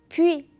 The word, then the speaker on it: puis: Puis. Et faites attention que le S ne se prononce pas. On a suis. Encore le S ne se prononce pas. Je dis puis et je dis suis.